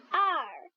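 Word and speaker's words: 二: 2 en chinois, ça prononce comme la lettre R en anglais. Le ton doit baisser. Parlez avec moi s'il vous plaît. R, R, R.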